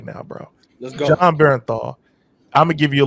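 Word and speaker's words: Jon Bernthal: I always say his name wrong, but I call him John Benadryl, and that's not his name at all. But the guy that plays Punisher is John Bernthal.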